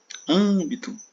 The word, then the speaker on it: âmbito: Agora a gente vai passar aqui âmbito, Âmbito. Âmbito também, a sílaba tônica está aqui na posição proparoxítona, tá?